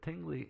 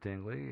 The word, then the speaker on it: Tingley: england uh and i i'm pretty sure i'm pronouncing that correctly because i've seen various videos interviews stuff like that i first assumed it was tingly because who the hell would name their town tingly but apparently the british